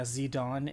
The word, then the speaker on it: Zidane: accept it because yeah zidon is the French name and the correct pronunciation of that game or pronunciation actually still